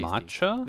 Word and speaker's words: mate: care it's really tasty mat the thing is not matcha mat okay can you can you spell it yeah it's spelled like mate m a t oh